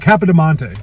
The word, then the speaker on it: Capodimonte: It starts with a C. Yeah, it's K. I just can't pronounce it. Capodimonte.